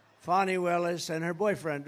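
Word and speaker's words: Fani: Willis right has anybody fonnie it's pronounced Fon F A ni I that's Fanny but she likes it fonnie when she became the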